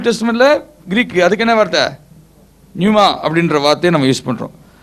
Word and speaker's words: pneuma: பெனூமா, actually PNEUMA. PNEUMA. எப்படி அதை pronounce பண்ணலாம்? நியூமாவா? நியூமா. In Greek, in the New Testament.